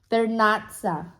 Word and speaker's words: Vernazza: Okay, it's not called Vermana. What the fuck is it called? Vernazza.